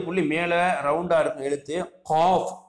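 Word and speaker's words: قاف: Cough, தொண்டையில் வந்து நல்லா சொல்லணுங்க. Cough cough cough cough.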